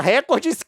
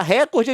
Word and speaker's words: recorde: uso sistemático da pronúncia record crime, mas não retornou o contato. Tem jeito de certo de falar. Recorde é de fato uma palavra paroxítona, conforme lá a a norma culta.